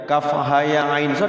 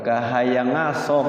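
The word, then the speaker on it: كهيعص: Kalau kita bacanya dengan sendirinya, apa katanya yang apa tuh, ada anekdot tuh kahayangaso katanya. Kahayangaso. Padahal di sini kafnya itu 6 harokat, ha-nya 2 harokat, ya-nya 2 harokat, ain-nya 6 harokat, kemudian setelah ain itu diikhfakan ke sod.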